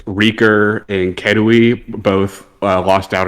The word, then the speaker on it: RKR: I don't know if that's how you say his name. Yeah, Reeker. Is that Reeker? Okay. It used to be spelled Reeker. Yeah, I thought. Okay, yeah, that's right.